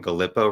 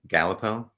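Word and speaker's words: Galipeau: say a gentle yeah apparently I've been pronouncing Warden galpo wrong it's what is it I say galpo you say galipo he got fired or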